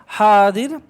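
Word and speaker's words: حاضر: মানে আমার সামনে আছে যাই হোক সঠিক উচ্চারণটা হবে হাদির তো হাদির মানে হলো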